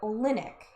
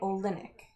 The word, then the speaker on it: Olynyk: Is it Olynyk or Olinick? Cuz they're pronouncing it Olinick.